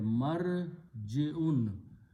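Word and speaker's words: مَرْجِعٌ: Put a meme in the beginning and pronounce the same way. Marji'un.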